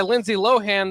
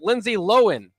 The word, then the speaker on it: Lindsay Lohan: was revealed today by lindsay lohan that we're we've been saying your name wrong the whole time it's lindsay lohan so you know maybe